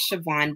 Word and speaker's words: Siobhan: So as you said, my name is ShaVon. It's actually an Irish Gaelic name, which I'm not Irish nor Gaelic.